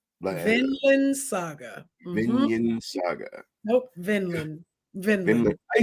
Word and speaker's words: Vinland: crunchy roll your recommendation to me would be vinin Saga Vinland Saga vinin Saga vinan Saga nope Vinland Vinland I said I said Vinland you said